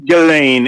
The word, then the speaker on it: Ghislaine: It's Ghislaine. It's Ghislaine. I think that's the proper way.